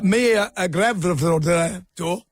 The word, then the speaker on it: Mia Gravdor: Mia Gravdor. That's how you like to refer to her. That's how they like it pronounced.